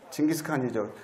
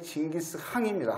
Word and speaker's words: 징기스칸: 징기스칸이죠. 근데 원래는 징기스항입니다. 항. 근데 빨리 발음하다 보니까 징기스칸 그러는데 위대한 항, 운두르항 그러면 징기스칸이라 그랬죠.